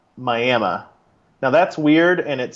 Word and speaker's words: Miami: grew up in Oklahoma spelled mi a mi Miami in Florida right but it's actually pronounced Miami now that's weird and it still seems wrong